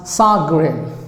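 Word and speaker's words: chagrin: g i n okay so this is pronounced as sag green sag green sagren so how insulting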